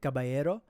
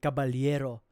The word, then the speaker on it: Caballero: Cababayero, but if in an actual like Filipino accent, it's actually cababaliero. You have to you have to like say the first L and then make it into a Y.